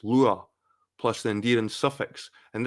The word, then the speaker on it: Lugaid: the honorific Mo, plus the original name Lugaid, pronounced Lua, plus the endearing suffix.